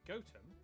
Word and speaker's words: Gotham: sester toaster then a quick jaunt to gotham goatum followed by a stop in kwonmore kwama before